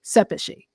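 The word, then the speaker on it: Szepesi: And she says that it wouldn't be a Y, it would be an I, and in Hungarian it would be Sepeši.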